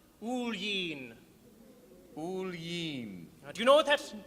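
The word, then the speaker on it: Oillin: me boy it's a good irish name it's pronounced ulying do you know what that means me name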